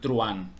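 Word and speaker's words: truhán: tenemos una la palabra truan y se pronuncia igual que Juan truan sí no decimos Juan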